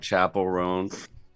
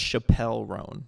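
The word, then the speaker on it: Chappell Roan: I listen to like chapel rone and like pain of Truth and big ass truck Chapel R's new metal it's first of all it's pronounced Chappelle rone I don't know if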